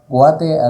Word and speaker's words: Guate: Guate as in the first two syllables of Guatemala.